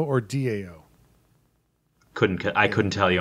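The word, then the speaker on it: Tao: one that spelled ta o and but it's pronounced Dao so in the after the kindness revolution some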